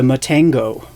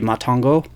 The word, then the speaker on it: Matango: pronunciations are m-a-t-a-n-g-o so if it's still supposed to have a Japanese pronunciation obviously it would be matongo uh it is the